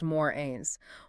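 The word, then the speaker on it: mores: Those are the moors, pronounced morins.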